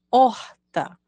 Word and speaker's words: horta: a escrita desta palavra horta começa com H mas o som Inicial é da vogal ou o que é horta local